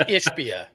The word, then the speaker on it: Ishbia: adjust you can't win I said his name wrong again didn't I yep yeah it's ishia oh you meant McAfee